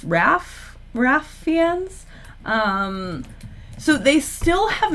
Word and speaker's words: Ralph: casting, I was saying Ralph Fiennes, and people told me that it's Raph. Is it Raph Fiennes? They cast that guy. I've been told that the L is silent. It's Raph Fiennes.